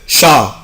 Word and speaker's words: chat: le chat, le chat, le chat, le chat. chat يعني قط. C H A T. je ne prononce pas la lettre T، مش بنطق حرف T.